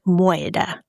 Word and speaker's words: moider: They also, instead of saying the word murder, they would say it like moider.